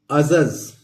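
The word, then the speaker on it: adjudge: अगला है ADJUDG, तो अजज, इसको यहां भी डी साइलेंट है तो हम इसको अजज पढ़ेंगे।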